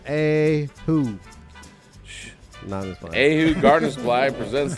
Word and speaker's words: Oahu: oh oh is that am i saying it right oahu it's pronounced a who shh ahu gardner squad